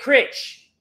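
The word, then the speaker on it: crytch: This is how you get critch, not crunk. We want to substitute getting crunk for getting critch, all right? And it's spelled C-R-Y-T-C-H, all right?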